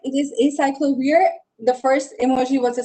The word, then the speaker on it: acyclovir: It is acyclovir. The first emoji was a cycle, and then you had a V in between, and the other one was an ear. So it's an acyclovir.